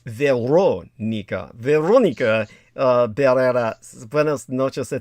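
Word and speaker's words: Verónica: And Veronica, by the way, the correct Latin American pronunciation, as Pac Juan Moreles would say, is Veronica.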